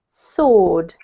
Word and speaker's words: sword: word here is pronounced sword yet so the W is basically silent okay this one here